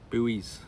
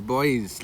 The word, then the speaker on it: buoy: Do you ever hear the way Americans say that? Buoys buoys. They're boys, lads.